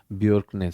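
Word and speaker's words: Bjerknes: So, B J E R K N E S you would pronounce it as Jerkkins. It is not Jerkkins, it is Bjorknes.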